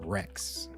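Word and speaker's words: Rechs: He's called Emperor Rex, but it's spelled R E C Hs.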